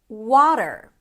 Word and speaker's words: water: We begin with a W sound and then you drop your jaw to the A as in father. W. The length of the syllable is really important. Make sure it's longer than the second syllable. The second syllable is dur. That's a flap t that shifts into an r.